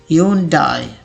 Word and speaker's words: Hyundai: इसे लोग Hyundai पढ़ लेते हैं, but if you are saying it Hyundai, it's wrong. The correct pronunciation is Hyundai. बहुत ही आसान तरीके से मैंने इसे तोड़ के लिख दिया आपके लिए, Hyundai, Hyundai, Hyundai.